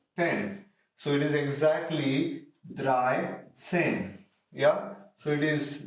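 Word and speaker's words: dreizehn: say 3 plus 10 so it is exactly dry same yeah so it is dry sin same way in case of 14 it is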